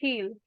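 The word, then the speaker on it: he'll: जैसे इल हम बोलते हैं, इल की जगह आई को हम और साइलेंट कर देंगे और एकदम ल की साउंड कर देंगे, हील, हील।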